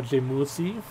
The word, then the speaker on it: Jemusi: GMC, however, if you pronounce it in Korean, it's more like GMZ or Jemusi.